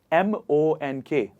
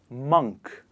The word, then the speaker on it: monk: to you to guess the o sound in the word monk o m-o-n-k is pronounced as a it is not o because a lot of people say monk but who is a